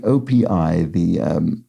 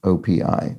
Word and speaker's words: OPI: It is indeed pronounced as an initialism, OPI, not OP. So thank you, OPI.